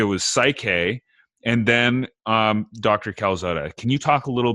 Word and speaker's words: Calzada: Calzada.